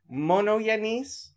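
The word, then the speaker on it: μονογενής: Well, I mean, monogenes is how modern Greeks would say it. It's how modern Greeks would say it. Okay. When monogenes. Anybody who's not Orthodox goes to seminary and learns Greek, they teach them what's called Erasmian pronunciation. Yeah, I've been saying monogenes. Yeah, that's what that is. That's the Erasmian pronunciation.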